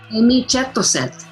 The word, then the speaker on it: Êmîcêtôcêt: Êmîcêtôcêt. Êmîcêtôcêt, yeah.